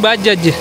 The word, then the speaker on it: Bajaj: Tapi penyebutan bajai itu sebenarnya bukan bajai tapi bajaj. Tapi di Indonesia karena ada salah pelafalan jadinya bajai.